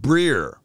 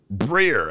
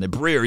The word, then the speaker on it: Breer: the Packers according to Albert Brerier. Breer, I think that's how you say it. Breer.